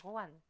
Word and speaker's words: Juan: mais tu sais, en espagnol, le J se prononce re. C'est pour ça qu'on dit Juan.